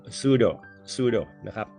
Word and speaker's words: pseudo: U O นะ ครับ ตัว P เนี่ย silent ไม่ ออก เสียง นะ ครับ ก็ ออก เสียง เป็น sudo suo นะ ครับ ก็